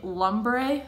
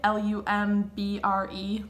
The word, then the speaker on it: Lumbre: I'm gonna use the shade Lumbre, L-U-M-B-R-E, Lumbre, I think it's pronounced.